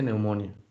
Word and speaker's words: pneumoniae: Se escribe neumonía, pero se pronuncia neumonía.